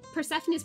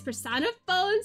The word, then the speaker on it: Persephone: persephone i'm so sorry i accidentally pronounced persephone's persona phone sometimes because i look at it and i see phone it's persephone i looked up the